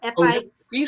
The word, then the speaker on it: Fils: Pronounced Fils. It's pronounced Fils. Fils.